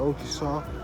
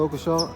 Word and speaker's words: Occleshaw: Well, let's get your pronunciation of your name first, Brother Occleshaw. I know I always say it wrong, so it's not Occleshaw. It's Occleshaw. Occleshaw, like kind of like October.